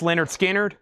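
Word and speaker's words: Lynyrd Skynyrd: This is Pronounce Leonard Skinnard.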